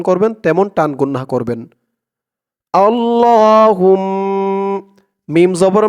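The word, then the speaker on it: اللهم: যেমন উচ্চারণ করব আপনারাও আমার সাথে বলে তেমন উচ্চারণ করবেন তেমন টান গুন্না করবেন আল্লাহুম্মা মিম জবর মা আল্লাহুম্মা হামজা নুন জের ইন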